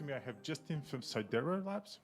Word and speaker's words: Sidera: next to me, I have Justin from Sidera Labs, right? Did I say it right? Sidera, yep.